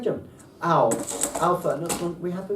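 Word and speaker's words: αυ: When alpha and upsilon come together, this is just an ow. Ow. That Like hurts. German. Like German. Ow.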